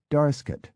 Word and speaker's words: Darlingscott: darlingscott is Darscot, and culzean castle is Culzean.